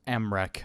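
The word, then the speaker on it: Mrekk: Mere, pronounced Mrech.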